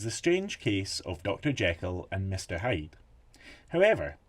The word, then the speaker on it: Jekyll: Jekyll and Mr. Hyde. However, Stevenson pronounced Jekyll to rhyme with treacle, and he wanted the title to sound like a newspaper headline, so he never used a the.